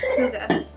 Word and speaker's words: hygge: Hygge, pronounced, H-Y-G-G-G, pronounced Hygge, is a funny Danish word with no English equivalent.